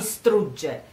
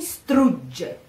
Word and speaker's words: strugge: So, tutta mi strugge, g, g. In this case, g, strugge. Again, you prepare the mouth for the G and you pronounce it while you're almost saying the E, the A.